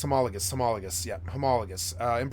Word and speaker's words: homologous: the pronunciation of but I thought it was homologous but let's go let's go see uh pronounce I want to see the pronounce uh homologus homologus I had it wrong homologus homologus homologus yeah homologus uh